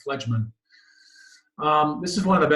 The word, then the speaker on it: phlegmon: This is a phlegemin. Phlegmon. I always add a syllable in there. Phlegmon.